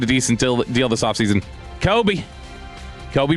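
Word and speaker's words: Coby: decent deal this offseason, Kobe Bryant. That's literally his name. It's spelled C-O-B-Y, though.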